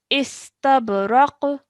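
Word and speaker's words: استبرق: Now, if you want to take a pause, what happens is that the dhammatain on top of this qaf is replaced with a sukoon. Okay? So, the pronunciation would be istabraq.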